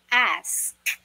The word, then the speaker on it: ask: na binabasa, napapronounce as X, napagbabaliktad nila, no? X, no? X, which is wrong. The correct pronunciation for this word is, listen carefully, straight na pinopronounce yung a, as in a, aso, a, ask.